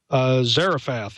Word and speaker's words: Zarephath: Zarephath is the city of license. Zarephath.